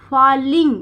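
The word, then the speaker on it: falling: Even मतलब we after after मतलब बाद किसके बाद फॉलिंग इसको फॉलिंग डबल एल कहीं पे भी अगर आपको मिलता है तो आ का साउंड आएगा यानी कि फॉलिंग तो इसको आ का साउंड पढ़ा जाएगा लिंग।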